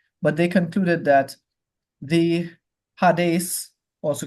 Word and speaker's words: Hades: since Hades is the place for the dead Hades correct pronunciation since Hades is is the place of